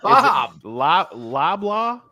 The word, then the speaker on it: Loblaw: Bob. Loblaw? Is that how you say it? It's a handle. It's Bob Loblaw from character from Arrested Development. Yep. If you say it quickly, blah, blah, blah, blah, blah.